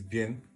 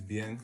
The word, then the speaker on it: Bien: and akamura um my artist name is b or depending on where I am you know in East Africa we don't know how to pronounce French like that but uh my name is bian I'm an artist from